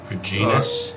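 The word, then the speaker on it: Regnis: how it's pronounced but r e g n i s genus it would or the the G would be silent cuz it's the GN like kind of like known so it' be like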